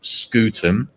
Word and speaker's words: Scutum: I can assure you it's pronounced scutum and no other thing.